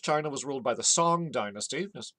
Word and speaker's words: Song: In 1000, China was ruled by the Song dynasty. You can spell it either song, like singing a song, or sometimes sung, like you had sung a song.